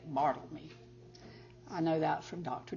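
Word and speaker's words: Barthelme: tutelage of one Donald bartoleme that's the other guy on the back of this cover and that's how you say it marveled me I know that from dr.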